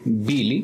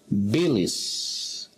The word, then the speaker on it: Billy's: un osito de peluche al momento de pronunciar la es el final tiene que producir un sonido no decimos bill y decimos bilis la traducción sería el